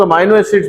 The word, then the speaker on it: amino acids: अब इसमें देखिए आपकी बुक ने लफ्ज इस्तेमाल किया है इम्यूनो एसिड्स, इसे कुछ लोग अमाइनो एसिड्स भी पढ़ेंगे ड्यू टू the functional group, that can also be taken as a right pronunciation.